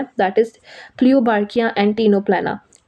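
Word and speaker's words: Ctenoplana: That is क्लियोबार्किया एंड टीनोप्लाना। प्लियोबार्किया एंड टीनोप्लेना। C silent होता है यहां पे।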